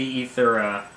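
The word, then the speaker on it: Aether: noticed that um is i think the proper pronunciation that for that is is e like encyclopedia that used to be spelled with an ae and medieval because media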